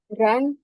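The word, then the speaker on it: 人: আমরা এটা কি উচ্চারণ বলছিলাম, রান, রান। যদিও র্যান এখানে ই দেওয়া, বাট এটা উচ্চারণ করবে রান, রান।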